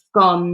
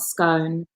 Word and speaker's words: scone: And there are so many words that pronounced incorrectly. Aaron, what's he saying? Scone, not scone.